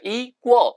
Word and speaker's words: equal: 그리고 동등한 equal, equal 아니고 아시겠죠? equal, 꼴처럼 발음합니다.